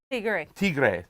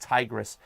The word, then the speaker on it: Tigray: Tigray. I didn't say that. I said Tigris.